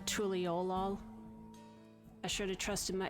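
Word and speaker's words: Tuliyollal: Apparently I was almost right on Tuliolal the first time. I think it's the emphasis is on the O, the Tuliolal.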